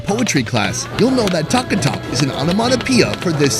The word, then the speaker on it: taka-tak: This place has it all, from modern comfort foods to more adventurous options, including something they call taka tak.